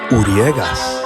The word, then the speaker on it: Uriegas: It's pronounced Uriegas. Uriegas.